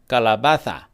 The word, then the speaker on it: calabaza: Lots of people in Spain would say calabaza. The zeta, the letter that looks like a Z, they pronounce it like a TH.